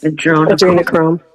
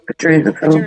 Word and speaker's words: adrenochrome: Adrenochrome. Adrenochrome.